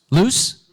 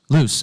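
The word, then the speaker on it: Luce: name of this mascot loose loose okay luu c e loose Little Chibi Anime character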